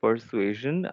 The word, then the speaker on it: persuasion: So in the word persuasion, how would you pronounce the last S? Because it is between two vowels. Zion. Ça, c'est zion. Zion.